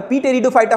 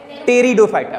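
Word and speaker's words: Pteridophyta: लेकिन पी लिखा हुआ है बच्चों, यहाँ देखो पी लिखा हुआ है, तो पी टेरिडोफाइटा होना चाहिए, नहीं यहाँ पे पी साइलेंट है, तो क्या बोलेंगे इसे, टेरिडोफाइटा, पी साइलेंट और टेरिडोफाइटा।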